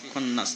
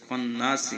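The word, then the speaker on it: الخناس: জের সিল, ওয়াস ওয়াসিল, খন্নাস। দেখুন, খ নুন জবর খন, নুন জবর না, সিন জবর সি, খন্নাসি। কিন্তু এখানে উচ্চারণ হবে খন্নাস।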